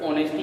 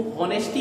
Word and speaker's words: honesty: इसको हॉनेस्टी क्यों नहीं बोला है? Because here is H letter is silent. यहाँ पर एच लेटर जो है वो साइलेंट है, इसको प्रोनाउंसिएट होगा ये ऑनेस्ट से।